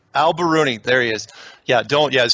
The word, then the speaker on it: al-Biruni: Al-Biruni. Al-Biruni. There he is. Yeah, his full name, Persian, is tough to pronounce.